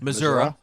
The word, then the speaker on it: Missouri: growing mill missouri missouri say that one missouri yeah there's no a at the end exactly but we're gonna